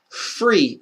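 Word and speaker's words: פרי: hebrew is called free free is how you say fruit in hebrew because that's exactly what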